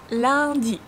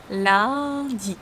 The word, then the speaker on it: lundi: Lundi. Here we have the nasal S sound. UN give us one nasal S sound. Lundi.